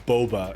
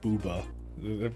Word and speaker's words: Boba: I guess it's Boba is what you call it, not Booba. That would be like another O.